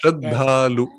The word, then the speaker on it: Sraddhalu: Isn't it on the second syllable? yes. So in the Sanskrit, it will be Sraddhalu. Yes. Sraddhalu.